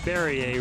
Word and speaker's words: Barrier: all about number three eric barrier rhymes with perrier bubbly and refreshing whether